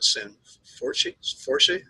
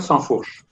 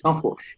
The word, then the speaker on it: Sanfourche: So my name is Sanfourche. I am French. Sanforce. So you try to pronounce it the French way. It's Sanfourche.